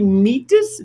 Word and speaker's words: Metis: but uh is it do we say medes or medes it's actually meet this oh it's bad it's